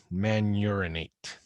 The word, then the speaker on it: mannuronate: And kind of the conjugate base, careful how you say that one. You might need to go to the restroom if you don't say it right. Mannuronate.